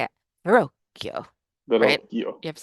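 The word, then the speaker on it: Verrocchio: named veroo We you have to say it Verio you have to say it like that it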